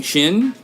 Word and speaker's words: Xin: how am i pronouncing shin i'm pronouncing it like it's pronounced which is shin i thought it was